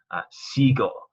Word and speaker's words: sigo: Sigo, it takes out the U to maintain that hard G sound. So it wouldn't be sigo. It's got to take the U out. Or sigo is what it would be. Sigo, sigo.